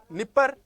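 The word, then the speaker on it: Dnieper: इनमें नया नया आता है तो इनके पहले डी लगता है, इसमें प्रोनाउंसिएशन है वो, इसका ये डी है वो साइलेंट हो जाता है।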